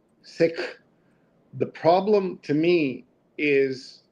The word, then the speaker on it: Sikh: For those wondering, the correct pronunciation of the word sik is with a short I and an aspirated K, just the way you are describing it. Sounds most like the English word sik.